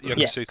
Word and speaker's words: Yokosuka: Yeah, in I'll pronounce this correctly. Yokosuka. Yokosuka? Yep, Yokosuka.